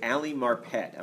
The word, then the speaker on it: Ali Marpet: that hey allly forgive me if I say Ali marpet I'm pronouncing your name correctly absolutely excellent thanks very